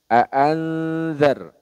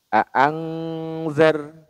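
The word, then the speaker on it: أنذر: ya ikhfa Hakiki nah kesalahan yang sering terjadi dibacanya larinya ke Ang bunyi bunyi samarnya aangzar aangzar nah itu kurang tepat Ya kurang tepat Karena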